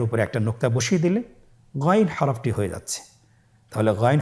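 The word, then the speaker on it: غين: চেষ্টা করুন আবার বলুন গাইন গাইনের মাখরাজ কোন জায়গায় আপনারা স্ক্রিনে দেখতে পাচ্ছেন ছবিতে দেখা যাচ্ছেন হারাফটি উচ্চারিত হয় কন্ঠনালীর শেষ ভাগ হতে এখান থেকে উচ্চারণ করুন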